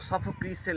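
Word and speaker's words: Sophocles: Oedipus এটা আমাদের বিখ্যাত সফোক্লিসের লেখা সফোক্লিস অথবা সফোকলস ব্রিটিশ প্রোনাউন্সিয়েশন আমেরিকান প্রোনাউন্সিয়েশনস এবং ইডিপাস আমরা দেখেছি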